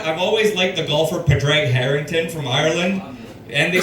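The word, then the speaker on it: Padraig: I've always liked the golfer Padre Harrington from Ireland, and they spell that P A D R A I G."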